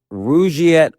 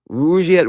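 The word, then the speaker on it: Rugiet: But if you're looking for something beyond the usual pill, meet Rouette Ready. And rouette is spelled r u g like rug and i t.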